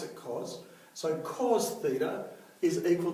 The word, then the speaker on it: cos: we write cos and this time we actually pronounce it cos so cos Theta is equal to adjacent over